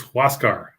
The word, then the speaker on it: Huascar: it's uh you know no it's it's huascar oh that's right it's a who asks yeah who else car what's god yeah what